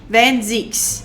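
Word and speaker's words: van Zieks: Van Zykes is a Dutch name, and I in Dutch and German pronounce E. Van Zeeks.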